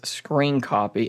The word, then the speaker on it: scrcpy: method it is called screen copy as you can see it's written like this scr cpy I don't know why it's written the way but it is pronounced as screen copy and this software is